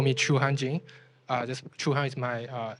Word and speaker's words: Chuhan: is you can also call me Chu hanji uh just chuhan is my Chinese first name I think it's not hard to pronounce it through your uh through your language